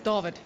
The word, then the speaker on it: Dawid: Yeah, and Dawid Malan's looking pretty good, or Dawid Malan, as we would say in South Africa. Dawid. Yeah. It's actually spelled with a W. Yeah, in South Africa it's Dawid. Dawid. So the Afrikaans, the W is like a V.